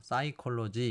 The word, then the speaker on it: psychology: 그런 규칙이 있죠 그래서 피는 발음하지 않고 뒤에서부터 사이콜로지 이렇게 읽으시면 될 거 같습니다 자 그런데 라틴어 라틴어라는